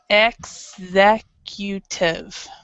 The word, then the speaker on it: executive: different pronunciation because we're we're stressing the word different so it's this one is to ex acute this one is executive so it's executive so the stress is completely opposite from the from the verb